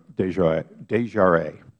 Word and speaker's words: DesJarlais: Desjardins. Thank you, Mr. Chairman. Would you pronounce your name?